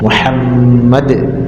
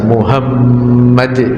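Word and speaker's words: محمد: dengan terjemahannya dalam pengucapan lafaz Muhammad harus benar dengan ha Muhammad ha ha itu termasuk huruf halq Muhammad kalau dia mengucapkan secara salah seperti mengucapkannya dengan H Besar Muhammad misalkan yang keluar dari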